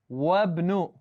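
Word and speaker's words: وابن: in front of it, it's not going to be pronounced. And I'm going to read it as wabnu.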